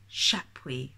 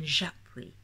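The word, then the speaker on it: Chapuys: Or, oh, he says Chapuis rather than Japuis, which is only a tiny difference, but when I've listened to the audiobooks for the other two and they say Japuis, and he says Chapuis,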